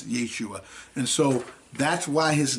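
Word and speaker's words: ישוע: When we look it up in the Strong's Concordance, it's pronounced Yeshua.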